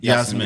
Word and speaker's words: Jasmin: Is it pronounced Yasmin or Yasmin? Yasmin.